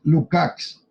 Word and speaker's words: Lukács: manera más compleja de lukács es como me pregunto bueno en realidad habría que pronunciarlo como es lúkacs porque éste nunca suena como a un músico de rock listos y aves y